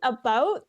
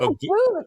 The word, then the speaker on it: about: But about, I know how to say it the Canadian way, which is like about. About. Yeah. It's not a boot. It's not a boot. It's like a boat.